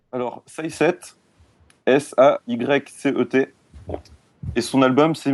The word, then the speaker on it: Saycet: Donc, redis-moi le nom de l'artiste pour que j'essaie de le prononcer. Alors, Say7, Saycet, et son album c'est Mirage.